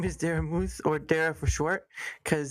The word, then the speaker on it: Daramouthe: My name is Daramouthe, or Dara for short, because the unfortunate side